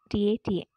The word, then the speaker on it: TATA: CAAT and Tata, T-A-T-A, pronounced as Tata box.